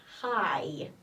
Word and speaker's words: high: So Mountain Everest is high. High. G-H. Silent letters, so high.